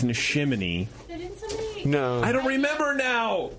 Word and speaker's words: Neshaminy: I think you pronounce it how it looks. It's Neshaminy.